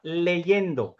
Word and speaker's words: leyendo: तो यहां पे भी इसका जो gerundio है वो होता है, प्रोनाउंस उसी तरह से होता है लेकिन होगा leyendo।